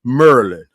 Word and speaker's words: Maryland: merland merland and look it's spelled Mary M A R Y right Mary land but we say Merlin it's just like it's